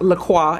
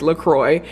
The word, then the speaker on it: LaCroix: A lot of people think that it's pronounced LaCroix and it's not, it's LaCroix. This is a mango LaCroix.